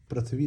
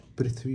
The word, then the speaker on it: पृथ्वी: पृथ्वी पृथ्वी पृथ्वी नहीं होती है कभी भी। अब मैं आपको उच्चारण बता देता हूं। हमेशा पृथ्वी होती है।